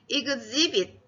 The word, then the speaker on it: exhibit: exhibit. 네, 따라해 보세요. 큰 소리로 따라해 보세요. exhibit이에요. 이 x가 ex라는 발음이 나여서 exhibit.